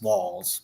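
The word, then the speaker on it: Walz: like Gloria like let's it's walls not Waltz W Waltz is Waltz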